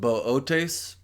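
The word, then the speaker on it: Boötes: The third and final Decan constellation of Virgo is what looks like boots, but I think it's pronounced Bootes, and it's a picture of a shepherd.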